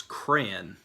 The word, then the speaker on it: crayon: to say this is crayon like CRA in almost like the first part of cranberries like crayon but I